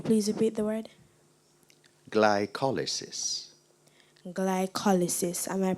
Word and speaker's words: glycolysis: Glycolysis. Am I pronouncing the word correctly?